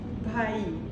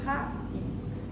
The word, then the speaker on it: Bhaee: Bhai. Bhai. Oh, it's in Sanskrit, in Punjab, they have a lot of that sound, which is not so easy to pronounce.